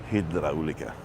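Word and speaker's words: Hidráulica: This is the Hydraulica, because it's got an accent on the A. Hydraulica.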